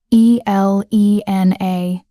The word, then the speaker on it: Elena: I hesitate, then sign E L E N A, finger spelling each letter. "Elena." he repeats, pronouncing it correctly, with the emphasis on the second syllable.